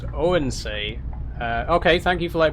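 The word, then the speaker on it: Odense: It's pronounced Oensay.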